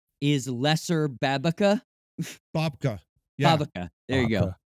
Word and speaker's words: babka: According to Elaine, which flavor of, I don't know how to pronounce that, Okay. Babica is lesser Babica? Babka.